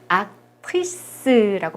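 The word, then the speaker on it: actrice: 이거는 윈는 악트리스라고 발음합니다.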